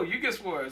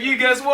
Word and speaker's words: YouGuessWar: they were like, oh, you guess war. So like when I graduated, I was so happy that they pronounced my name right. So I was like, you guess war.